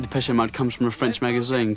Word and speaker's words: Depeche Mode: And we chopped off the accent and we just kept the pronunciation. Maybe I can show you just how. Depeche Mode show just how much futurism has changed now it's hit Essex.